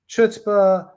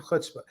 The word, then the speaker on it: chutzpah: it's pronounced multiple ways chutzpah the ch is depending on uh where you are it can ch in the word character sounds like a hard k in the word uh